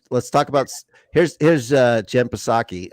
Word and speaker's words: Psaki: Here's Jen Psaki. I always pronounce the P out of disrespect.